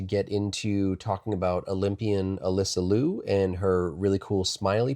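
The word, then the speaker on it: Alysa Liu: I think I might have said Alysia or even like Alicia, but we just want to correct. And it is Alyssa Lou.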